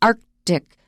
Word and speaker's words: Arctic: to say it correctly so arctic arctic you may hear that as well but please try to pronounce it that's the correct way arctic arc you're going to have to pause a long time after that k algie don't be impatient arctic arctic and the